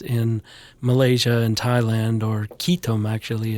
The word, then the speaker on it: ketum: Malaysia and Thailand or ketum actually as it's pronounced in Malaysia.